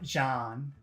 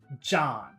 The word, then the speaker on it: John: to do is imagine that there's a D in the front so it's not Jan but John JN you have to start with a D sound so if your language doesn't have that sound it could be very difficult to to make it to make it just imagine a d first John John that's how you fix that problem okay let's get rid